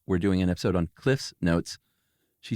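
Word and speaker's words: CliffsNotes: I said it wrong the first time. It's never been Cliff Notes. It's Cliff's Notes.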